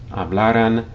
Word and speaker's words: hablara: Notice that when you say these forms, hablara, hablaras, hablarais, hablaran, you stress the second to last syllable, even though there's no written accent, okay?